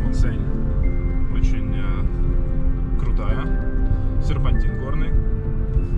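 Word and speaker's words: Montseny: На пятый день узнали, что название заповедника произносится не Монсень, а Монсень. Очень важно, по-каталонски.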